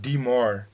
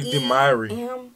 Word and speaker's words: Myrie: I think that's why they would pronounce it Demouchet. No. It's simply Myrie. Myrie. Myrie. It's not Demouchet.